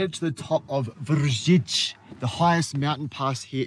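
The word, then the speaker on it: Vršič: Okay, so we've made it to the top of Vrsic, the highest mountain pass here in Slovenia.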